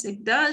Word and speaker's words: Zegda: Ça se prononce Zegda.